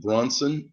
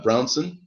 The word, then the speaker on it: Brownson: us uh in studio Tim Bronson uh brownson uh pardon me for your name mispronunciation there um Tim is a